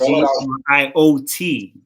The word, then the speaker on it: griot: That's Griot Soul Records, and it's GRIOT. The T is silent in Griot because it's French.